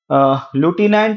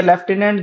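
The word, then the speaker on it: lieutenant: लुटिनेंट या लेफ्टिनेंट दोनों बोले जाते हैं, प्रोनाउंशिएट किए जाते हैं।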